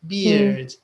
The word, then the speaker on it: beard: EA, but it's pronounced beard.